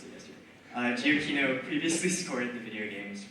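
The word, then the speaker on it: Giacchino: composed by Michael giokino thank you uh I mispronounced it yesterday uh giochino previously scored the video games war path Jurassic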